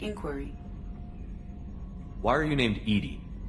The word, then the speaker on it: EDI: why are you named Edie Edie is the phonetic pronunciation of EDI that is an acronym for intense defense intelligence are you getting along with Joker mr.